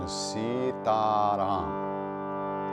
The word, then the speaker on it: Sitaram: desi Cara by the way they the correct pronunciation Sitaram so it's three long balance sounds nuts II